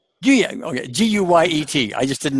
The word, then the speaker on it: Guyet: Pronounce your last name. Guyet. Guyet.